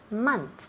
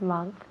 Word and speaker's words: month: Were we sick last month? Very good. Month. Okay, muy bien. So remember, month, mes. Month se escribe M-O-N-T-H, pero esa O se pronuncia como si fuera una A.